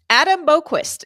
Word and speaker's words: Boqvist: Adam Boqvist is on waivers.